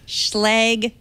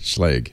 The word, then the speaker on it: Schlage: Including my Schlage Smart Deadlock. Is that how I pronounce it? Schlage. Schlage.